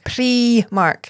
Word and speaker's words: Primark: It is Premark. There was a whole campaign like a couple months ago. Premark is how you pronounce it.